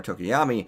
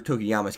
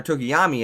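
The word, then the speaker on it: Tokoyami: that speaks volumes for Tokiyama's character. I mean, I want to know how strong is Tokiyama, or Tokiyami, I believe it's pronounced.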